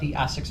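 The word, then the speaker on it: Esox: Not only are they're now got a broadside bait, which, as most of the Essex family, I pronounced that right?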